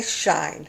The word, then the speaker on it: Shein: If it was Shein, it was she and then in, not all one word. I did actually look it up how to pronounce it and it did say Shine, so whatever.